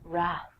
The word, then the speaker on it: wrath: Trek fans out there, Wrath. Famously, the Wrath of Khan. I have no idea what the Wrath of Khan is, but I will tell you that the W is silent, so don't say it.